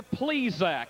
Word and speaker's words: Plesac: please correct your pronunciation he's named obviously for the baseball man mister please Zack and that's why he's